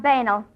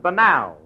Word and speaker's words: banal: You've been pronouncing them words all wrong. What do you mean? Well, I found out in night school that the correct pronunciation is purel and banal.